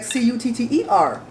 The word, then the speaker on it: Qatar: I've always heard it as Qatar, stress that tar. But now I hear on the news people say Qatar, like Cutter. That's the way to pronounce it.